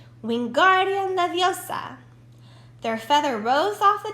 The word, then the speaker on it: Wingardium Leviosa: having much more luck Wingardium Leviosa he shouted waving his long long arms like windmill you're saying it wrong Harry heard of mine Hermione snap its Wingardium Leviosa make the guard nice and long you do it then